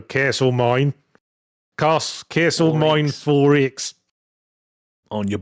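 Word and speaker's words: Castlemaine: Well, they pronounce it Australian, so Castle Mine.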